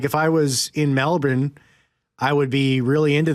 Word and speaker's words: Melbourne: No, well, it is Melbourne, but you pronounce it Melbourne.